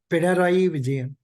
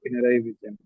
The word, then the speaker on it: Pinarayi Vijayan: The capital is Thiruvananthapuram, and the CM is P. P. Vijayaran, something like that. I'm Mr. extremely sorry, sir. Pinarayi Vijayan. Yes, sir. Pinarayi Vijayan.